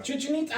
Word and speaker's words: Chichen Itza: Chichen Itza. I said that earlier. Oh, well, I didn't hear I it. did. I said Chichen Itza.